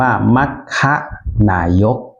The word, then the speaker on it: มัคนายก: ๆ อธิบาย นะ ครับ คำ ว่า มัคนายก เนี่ย ถ้า เป็น ภาษา บาลี จะ สะกด เป็น ม ม้า ไม่ หัน อากาศ ค ควาย ครับ อ่าน ว่า มัคค นายก ถ้า เป็น รูป ภาษา